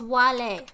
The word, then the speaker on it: Wale: me on it so the way i try to pronounce it is wale that's how you pronounce it wales that's